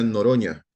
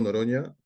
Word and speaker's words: Noronha: Se pronuncia Noroña, es portugués. La NHA se pronuncia como Ronaldinho y todos estos jugadores brasileros. ¿De acuerdo? Entonces, eh me presento nuevamente. Yo soy Noroña.